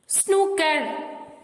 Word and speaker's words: snooker: The letter group OOK is mostly pronounced with a short U. As in put, exceptions are spook and snooker.